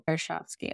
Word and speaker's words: Karshovski: Like, people expect there to be like a silent letter in there or anything like that, but it's what it reads like. So Karshovsky.